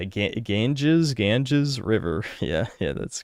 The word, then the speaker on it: Ganges: Ganges.